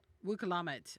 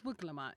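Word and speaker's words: Wuk Lamat: Wukamat. I'm sorry. I'm saying her name wrong. No, it's Wuklamat.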